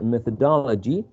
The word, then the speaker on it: methodology: And the last word that Fernanda worked with was methodology, which has 5 syllables, and the third syllable is the most salient one.